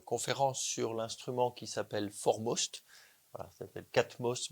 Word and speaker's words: 4MOST: Donc je vais vous présenter cette conférence sur l'instrument qui s'appelle Formost. Voilà, ça catmost mais il faut prononcer for most en anglais.